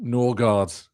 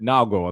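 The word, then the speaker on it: Nørgaard: the case and that it was Norard if you're pronouncing it kind of as you know your boring Brit or if you are indeed Danish you're pronouncing it Nago and that's how you pronounce it.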